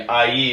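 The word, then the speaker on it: Aÿ: In Ailly, or I, if you're an American like me, Ailly is how it's pronounced, is right in the middle.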